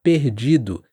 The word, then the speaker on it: perdido: para você não ficar perdido. O R varia muito no Brasil, então eu vou falar perdido. É mais na garganta.